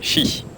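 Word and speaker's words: 十: C'est chi. Donc désolé si la prononciation n'est pas parfaite, hein, je suis pas chinois.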